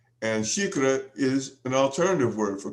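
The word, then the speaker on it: xícara: would say um now she is spelled x i k r a with the x having an sh sound and shikra is an alternative word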